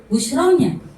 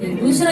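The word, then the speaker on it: بشرى: Padahal Allah sudah ngasih busra. Jangan bilang busra itu tetangga saya ya. Busyra itu artinya kabar gembira bagi orang-orang yang membacanya ya.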